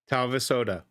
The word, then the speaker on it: Talvisota: Talvisota. Okay, I'll now know how to pronounce it when I get to that episode on Monday. Talvisota.